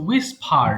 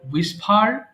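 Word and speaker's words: whisper: কিন্তু হবে না ওকে আমরা যখন ডাবল ইউ এর পরে এইচ পাই তখন আমাদের এইচ এর উচ্চারণ করতে হয় না বা করার প্রয়োজন হয়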